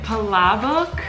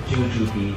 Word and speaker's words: palabok: Palabok? Palabok. How do you say this? Jujubee.